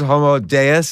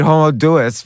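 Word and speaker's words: Homo Deus: things that you that you discuss deos deos like God okay I stand corrected homo deos is that right yes homo I've telling everyone to read homo deis but uh I'm wrong I can't pronounce so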